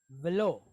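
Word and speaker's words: ולא: Aleph is a silent letter, right? So it's just going to make an O sound. So we have an L and an O, lo. So we have velo, right?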